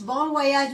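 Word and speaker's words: bon voyage: बॉन वोयाज again French expression है तो इसमें थोड़ा सा प्रोनाउंसिएशंस का फर्क होता है. सो इट्स बॉन वोयाज means happy journey, good bye, बाय bye, happy journey, बॉन वोयाज.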